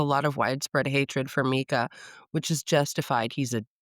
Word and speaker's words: Micah: It's spelled Micah, but she says Mika, which just adds to my hatred of the character.